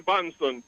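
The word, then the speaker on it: Bahnsen: truths written by David L Branson and that is spelled b-a-h -n-s-e-n-b-a-h-n-s-e-n David L banson there is no free lunch 250 economic streets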